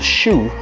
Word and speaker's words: Hsu: It's pronounced shoe as in shoe, as in the shoe you wear.